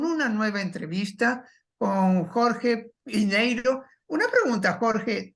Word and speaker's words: Piñeiro: piñeiro una pregunta Jorge tu nombre es pineiro o pineiro él es piñeiro lo que pasa que en Estados en Estados Unidos no se usa la ñ Y eso Por eso se escribe con n OK Bueno entonces vamos a